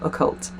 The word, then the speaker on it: occult: And if you're not hearing me pronounce that, I mean like with an O, the letter O, O C U L T, occult.